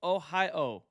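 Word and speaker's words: おはよう: That's how it's pronounced in Japanese. Ohio, everyone. Ohio.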